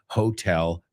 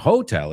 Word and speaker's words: hotel: Let's take a look at some hotel jokes. Now, por favor, hay que pronunciarlo. It's not hotel, it's hotel.